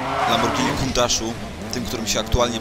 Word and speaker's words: Lamborghini: Nie mówi się Lamborghini, tylko Lamborghini. Chciałem tylko tak wspomnieć, bo nie jest to samochód produkcji angielskiej.